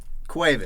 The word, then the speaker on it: Cuevas: Say it in Cuevas. Spanish. Cuevas. Okay, say it in English. Cuevas. Okay, cool. Just wanted to double check on that pronunciation.